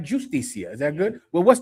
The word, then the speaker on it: justicia: I like justicia. Is that good? Well, what's more normal to say? Justicia. So to not pronounce the J like a J, but to pronounce it like a H in English.